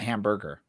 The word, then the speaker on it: Hamburg: But apparently, you thought it was Hamburg and not hamburger. Well, it's pronounced Hamburg.